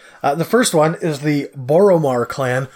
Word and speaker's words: Boromar: The first one is the Boromar Clan, which I'm probably always going to call the Boromir Clan. Is it spelled the same way?